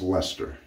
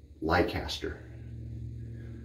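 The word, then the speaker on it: Leicester: called I'm laughing because it's pronounced Lester but it's spelled true to form in Massachusetts l-e-i-c-e-s-t-e-r so I was calling it lycaster like we're Chester Worcester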